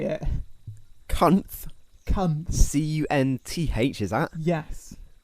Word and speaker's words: Cunth: Cunth. C-U-N-T-H, is that? Yes. Spelled the same as the naughty word, but with a H.